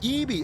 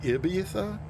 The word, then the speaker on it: Ibiza: Oh, Ebi. Oh, you learned to pronounce it Ebi. Interesting. E, like seriously hard E, or more of just like a neutral E? Like Ibiza?